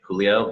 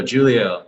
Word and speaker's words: Julio: your childhood nickname ah so my name is spelled with a j julio but people always be like julio giulio just because well for everybody out